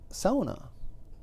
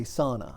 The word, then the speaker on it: sauna: Kingsford area and they the people that would say Sona I often asked them or even without asking them they would volunteer the fact that well I used to say sauna but I was told by a best friend somebody nobody it was